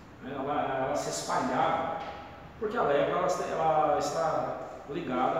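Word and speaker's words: λέπρα: No grego é lepra mesmo. A palavra lepra é lepra mesmo lá. Se pronuncia lepra.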